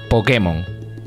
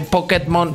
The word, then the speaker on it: Pokémon: al final del día se dice Pokémon porque escrito tiene un acento en la e que sí que digan de vez en cuando lo de pokmon pero pero Pokémon dicen